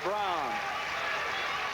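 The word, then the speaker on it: Bran: great defensive play by Brown Sandy Brown It's pronounced brown but spelled b r a n she posts across and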